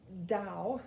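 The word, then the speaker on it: Tao: how old it is the dao looks like t-a-o that's how it's spelled but it's pronounced dao that is another eastern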